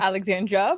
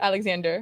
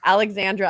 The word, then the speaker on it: Alexandra: Did I pronounce Yes, that right? Alexandra, but close enough. What did I say? Alexander. Oh my gosh. Alexandra.